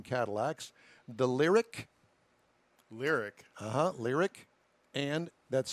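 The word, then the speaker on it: Lyriq: of two upcoming cadillacs the lyric lyric uh-huh lyric and that's spelled l i'm sorry l-y-r-i-q and the celestique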